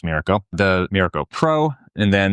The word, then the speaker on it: Miraco: They have the Miraco, or Miraco, I think it's pronounced Miraco, the Miraco Pro, and then this is their top-of-the-line Miraco Plus.